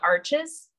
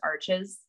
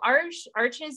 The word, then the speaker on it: Arches: it's not actually pronounced Arches. That's just what we think it is. It's Arche or something. It's a French brand, but Arches, that's what I call it.